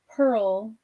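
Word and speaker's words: Prle: so you know that Pearl, which is spelled P-R-L-E, the country from Rotting Crown, my prose novel, is, I've said it's a waterlogged town.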